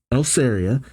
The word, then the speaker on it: Eleria: magia Dragon ö says El elera eleria eleria that's that's the proper way to say his name use his magic to